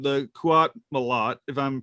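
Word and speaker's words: Qowat Milat: sect called, I'm gonna get it wrong, the Kuat Malat, if I'm pronouncing it correctly. Right. Kuat Malat, yeah.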